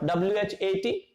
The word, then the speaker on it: what: This word is pronounced as what. What? This A sound is giving, A letter, not sound, A letter is giving the sound of O. So definitely we will use small o. H is silent. You know this rule that whenever H is given immediately after the W, it is always silent.